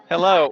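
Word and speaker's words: Hallo: Exactly like English. Hello. Hello.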